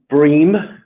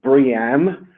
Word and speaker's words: BREEAM: there at the beginning its Bream or you can call it briam that's entirely up to you I don't care what pronunciation you use as long as you use it okay it's the important